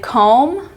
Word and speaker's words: comb: We have the final MB, as in lamb, thumb, and comb. The B is silent at the end.